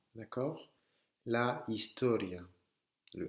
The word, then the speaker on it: historia: En espagnol, le H ne se prononce pas. D'accord? La historia. Le H ne se prononce pas. La historia.